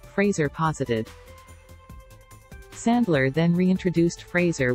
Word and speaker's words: Fraser: the belief that Brendan Fraser's name is pronounced like Kelsey grammer's Frasier Crane the titular character in Frasier there is no I in Fraser so why would it be pronounced like Frasier also Frazier started in